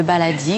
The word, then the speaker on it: baladi: B-A-L-A-D-I. Comme ça se prononce. Qu'est-ce que c'est on dit le baladi?